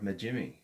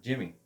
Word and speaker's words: Najimy: with Midler, Parker, or Najimy. I'm saying Kathy's name wrong. I know it. Not Jimmy. Najimy, but it's one M.